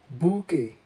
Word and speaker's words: bouquet: In French, the QU is pronounced together as k, k, and the T is silent, giving this a soft and elegant sound.